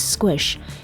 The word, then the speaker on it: SQSH: more here's Maya norl do you pronounce it squish cuz I always say squish when I see it yeah it is Squish and squish I think